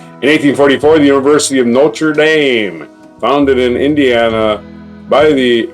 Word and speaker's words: Notre Dame: officially chartered that's right it's not notredam I don't care what you French want to call it it's Notre Dame cuz it's in Indiana and they're not going to pronounce it your French way that's way they we're